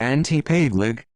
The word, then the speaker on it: Ante Pavelić: Ante Pavelic, Croatian pronunciation, complete.